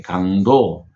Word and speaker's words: 강도: 그래서 그렇게 힘쓰다 이렇게 쓰여지면 적성이 돼서 길게 강도 이렇게에 발음을 해야 됩니다.